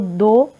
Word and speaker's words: tho: THO दो means दो. इट्स द short form. It's pronounced as दो.